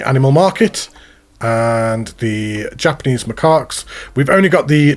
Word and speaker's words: macaques: I totally did not Google how to pronounce that so I could say it properly in the video. Japanese macaques is how you say it.